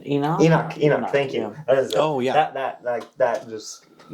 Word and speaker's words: Enoch: Enoch.